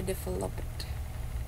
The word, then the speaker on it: developed: Jangan dibaca jangan dibaca developed developed develop develop eh tetap develop tapi jangan dibaca -nya elaborate elaborate H gimana